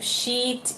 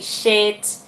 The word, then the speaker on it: sheet: Então, para você ter mais facilidade de você aprender essas pronúncias, você sempre pensa o seguinte: a palavra correta, ela sempre tem um i alongado.